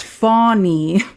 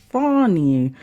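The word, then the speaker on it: Fani: one prosecutor engaged by fonnie pronounced fonie Willis to persecute Trump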